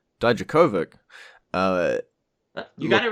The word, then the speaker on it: Dijakovic: I've had lessons from someone who speaks Russian on how to say it, Dijakovic.